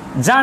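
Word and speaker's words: Jean: The valley poet হচ্ছেন জ্যাঁ Nicolas Arthur রিম্বার্ড আমি এইভাবে উচ্চারণটা করছি পোয়েট হচ্ছেন জ্যাঁ নিকোলাস আর্থার রিমবার্ড। এই জিন যে লেখাটা রয়েছে এটা জিন পড়া যাবে না, যেহেতু ফ্রেঞ্চ লেখক, ফ্রেঞ্চ কবি, যার লেখাটা আজকে পড়ছি অ্যাসলিপ ইন দ্য ভ্যালি।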